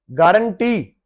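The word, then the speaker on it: guarantee: भी, जैसे मुस्लिम लीग, तो लीग इसमें यू साइलेंट है। गारंटी, गारंटी, तो इसमें यू साइलेंट है।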